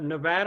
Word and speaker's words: Nevada: go ahead okay uh next up we have nevada i'm sure i mispronounced that so rachel maybe you can correct